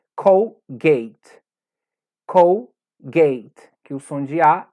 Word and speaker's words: Colgate: dental que todos conhecemos que dizemos colgate que na verdade é colgate colgate que os onde